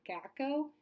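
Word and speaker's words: gaokao: I believe it's pronounced the GACO, and it basically determines what college you get into and if you get into college, and it's highly competitive.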